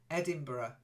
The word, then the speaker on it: Edinburgh: Edinburgh that's it Edinburgh there's no G it's Edinburgh okay um because it's not yeah no only in Germany would you be Edinburgh uh Berg is Castle in German but Edinburgh is a place in Scotland and we say Edinburgh okay so Yi or